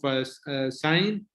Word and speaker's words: Scientics: He is the owner of Scientics. I think just if I pronounce it well. That's correct. Scientics. Yes, correct.